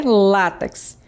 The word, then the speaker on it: látex: Então, vocês perceberam que a palavra é látex. O acento tônico é no lá e não no t.